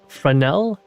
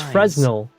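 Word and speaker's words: Fresnel: Frenel, the S is silent. Correct. It allows us to observe an entirely different world using I thought it was Fresno.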